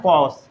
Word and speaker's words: coarse: COARSE, COARSE, इसे हम लोग पढ़ते हैं कॉस।